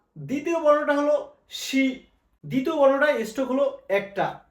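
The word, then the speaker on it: し: উচ্চারণ কি হবে? সা। দ্বিতীয় বর্ণটা হলো শি। দ্বিতীয় বর্ণটা স্ট্রোক হলো একটা, শি।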